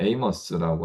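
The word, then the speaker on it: Amos: 그래서 이제 아모스라고 하는 명칭은 이제 미국식 발음으로 가면 에이머스라고 하는 발음으로 가는 거 같아요.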